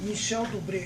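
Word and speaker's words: Michel Dubret: O filme dos Espíritos com Michel Dubré, é essa a pronúncia?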